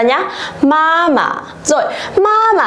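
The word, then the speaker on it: 妈妈: Vậy thì chúng ta vẫn sẽ dồn trọng âm vào âm đằng trước và đọc lơi cái âm đằng sau ra nhá. Mama.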